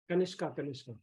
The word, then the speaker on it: Kanishka: So Kanishka, am I pronouncing it correctly? Kanishka. Kanishka.